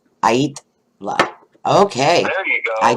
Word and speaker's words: Aittala: And then I was like, is it Aittala? No, it's Aittala. Okay, say that again. Aittala. Oh, wow. Is this like a, what? It's a Finnish name.